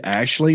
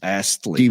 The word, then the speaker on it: Astley: I say Ashley, but I just read it's Astley.